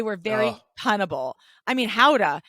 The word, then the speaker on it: Gouda: gouda cheese in Holland it's not called gouda do you know how they pronounce it I don't howda howda so I love